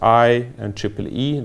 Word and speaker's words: IEEE: So it's I and EEE, that's how you pronounce this.